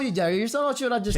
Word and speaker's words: Jairson: My name's actually a Brazilian name. It's Jairson. hell? Jairson. Again. Rosa. Jairson. Jairson. Jairson. Yeah, Jairson. Yeah, you. So do we call you Jairson or should I just call you Jason.